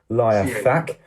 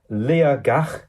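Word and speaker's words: Liathach: I would call it liac but the t is pronounced as a g your place on five of my life is Lea gak a uh mountain in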